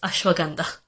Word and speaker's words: ashwagandha: like ashwagandha and Himalayas, it's Himalayas, and it's ashwagandha.